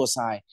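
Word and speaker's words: psi: ว่า water potential อ่า เรา จะ เรียก สัญลักษณ์ นี้ ว่า ตัว ไน นะ ครับ อ่าน ว่า ตัว ไซน หรือ ค่า ศักด์ ของ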